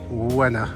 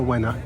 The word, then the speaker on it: Łyna: Uh, it's the the L with a little thing on it, which is pronounced a bit like a W. Y N A. Wa. Wa. I would say winner. River. Wena.